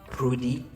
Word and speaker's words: Prudy: And then I also saw that you are part of I don't know if I'm pronouncing this one, but Prudy Fragrance. Yes. That's right, Prudy.